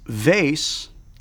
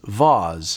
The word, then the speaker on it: vase: It's vase, unless you are pretentious, in which case it is vase.